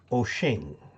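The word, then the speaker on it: Wouxun: bad like uh the radio w-o-u-x-u-n is actually pronounced oching and i had somebody argue with me that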